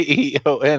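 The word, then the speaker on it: Aeon: A E O N is pronounced Eon, though.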